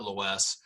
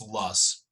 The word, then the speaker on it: loess: up over time and this soil is called Loess okay so this ello es s it's not low s or lows its lusts that is how it's pronounced but you see it in these westerly